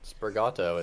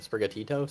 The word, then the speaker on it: Sprigatito: but as we know the leaf it on sprigato is like really good sprigatito sprig pronouncing Adam ninja you know they're playing they're